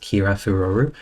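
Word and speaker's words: キラフロル: As far as the Japanese name for glamor is concerned, it's pronounced kira furu.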